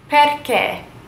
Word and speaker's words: perché: Perché.